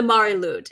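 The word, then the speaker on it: Mari Lwyd: But one of the figureheads of the wassail, which was the name of this practice in Britain, across Britain, was the Marilud, and that's spelled Marilwyd.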